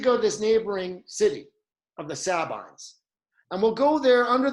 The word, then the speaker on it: Sabines: And one of these neighboring cities is the city of the Sabines, sometimes pronounced Sabines, but it's the Sabines.